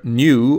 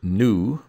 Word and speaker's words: nu: The Greek letter nu, or American English might pronounce it nu, looks kind of like a V in the lowercase.